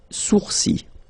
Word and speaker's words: sourcils: Okay, so it's quite strange because you get this LS at the end, but then, well, you don't pronounce them. Les sourcils.